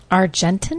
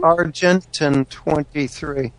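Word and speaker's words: Argentyn 23: manufacturers cannot say that how do you say that again argentin argentin 23 AR it's an extremely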